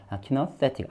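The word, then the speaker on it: kinesthetic: 이거 단지 그냥 예를 들면 키너세틱이라는 단어가 이 부분은 키라고 발음하는구나. 그 다음에 이 부분은 any로 써져 있으면 너로 발음하는구나. 그래서 키너 발음은 안 하지만 키너세 이 부분이 세고 틱이라고 발음하는구나. 요 참고용이라는 거죠.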